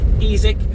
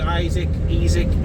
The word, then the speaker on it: Isak: club record signing alexander ezek that's how he's pronouncing exactly i've heard isaac and all different things there and in between um but for